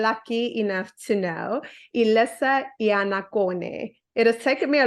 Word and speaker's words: Iannaccone: I've ever been lucky enough to know, Elisa Iannaccone. It has taken me a long time to learn how to pronounce your surname properly.